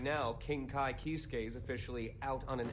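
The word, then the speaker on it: Kiske: all the time besides right now king kai kisuke is officially out on an expedition that's how it's pronounced this time i merely said that i planned to make my family i thought it was kiss you could at least pretend to play nice with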